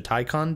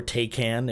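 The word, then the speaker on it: Taycan: sport sound that the the Porsche tyon does or takan if you're uncultured and don't know how to pronounce it um yeah sorry that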